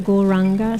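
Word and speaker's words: Gauranga: So the mantra Goranga, said in 4 syllables.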